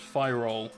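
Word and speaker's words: Pyrrole: fire all it was fire all is the correct pronunciation someone gave me they fire all red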